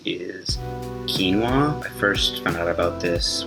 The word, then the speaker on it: quinoa: how to say it it's just two syllables it's a king like you're keen to do something and then walk so like beginning of water I really like acai bowls